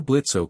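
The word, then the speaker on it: Blitzø: "The name is Blitz." The O is silent, Blitzo said as he approached Luke Day.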